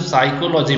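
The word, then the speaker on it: psychology: साइकोलॉजी में P silent होगा, ठीक है, क्योंकि पी हम नहीं बोल रहे ना, हम सिर्फ साइकोलॉजी बोल रहे हैं, तो पी आपका साइलेंट हो गया, आंसर डी इसका सही होगा।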